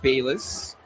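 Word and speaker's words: Balius: And Gavin Bis spells his last name B A L I U S but pronounces it Bis.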